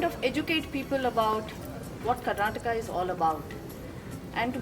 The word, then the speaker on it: Karnataka: like to say that it is Karnataka, not Karnatak. That is something which I've been hearing for a very long time, so I wanted everybody to understand that the pronunciation of our Nadu is Karnataka.